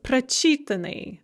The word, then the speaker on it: прочитанный: So if the stress is on the at in the infinitive, the stress is going to shift one syllable to the front of the word or one syllable to the left if you're looking at the written word in the past passive participle. So to go over those words we saw again, прочитать, to read, becomes прочитанный.